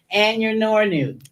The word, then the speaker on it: Anyanonu: So you have to pronounce the R, but there's no R in the spelling of her name. You can see it there on the screen. Anyanonu.